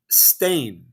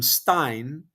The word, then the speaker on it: Steen: It's it's Stain. In Belgium, his name is Stain. I'm like, what? And then the Dutch, because Steen is not Dutch, but the Dutch will call him Stein, but in Belgium he's